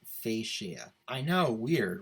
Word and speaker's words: fascia: this word online later on and it's actually pronounced fascia i know weird right you know some words